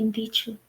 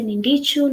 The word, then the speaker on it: Ndichu: even told, just call me Ndichu. Like when they say without the N, they say it properly. But when Mm. they say with the N, they say Nindichu, Nunduchu, Yeah.